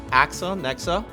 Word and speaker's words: Axanexa: it's a funny name AXA Nexa imagine there's two words in there it's there's a imagine a dash right there at between AXA and Nexa it's hard to pronounce